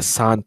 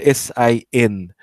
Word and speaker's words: San: So the San, S-A-N, carp merchant, the ones that click when they talk, those ones. The gods must be crazy movie. The San, that's how you sort of pronounce their people.